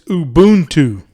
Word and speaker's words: Ubuntu: and if you notice i said it wrong it's ubuntu is how you actually say it so means humanity to